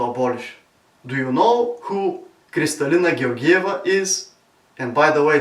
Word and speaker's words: Kristalina Georgieva: Do you know who Kristalina Georgieva is? And by the way, this is the correct Bulgarian pronunciation for Mario Eneko and others who try to spell her name.